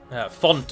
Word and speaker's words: fount: Font of knowledge is how it's pronounced, Tyrion, by the way.